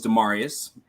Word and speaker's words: Demarius: everyone my name is demarius it long long long a's and latin pronunciations okay damarious yes noted